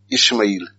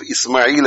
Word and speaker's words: Ismail: instead of saying ismail ishmael now when you write i-s-m-a-i-l where does ish comes from there is no h s h i s